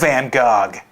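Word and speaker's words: van Gogh: man I I love van Gog okay I think it's pronounced Van Go Justin anyway I'm here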